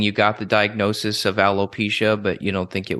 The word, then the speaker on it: alopecia: Alopecia, that's how it's pronounced. I always mispronounce it.